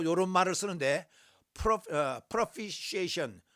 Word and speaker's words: propitiation: 그래서 이거 또 이런 말을 쓰는데, propitiation, 요 T는요 발음을 안 해요. 묵음이에요.